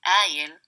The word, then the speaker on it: قائل: It will be pronounced as قايل in dialect.